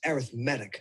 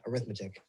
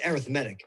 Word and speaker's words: arithmetic: sequence here's an example by the way it's pronounced arithmetic not arithmetic it's arithmetic as an adjective all right what's the next